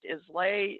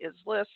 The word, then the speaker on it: Islais: So Islais Creek, as you know, runs through Glen Canyon and sometimes pronounced Islay, Islais.